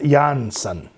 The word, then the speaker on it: Jansen: incredibly talented third vocalist, Floor Jansen, pronounced Jansen.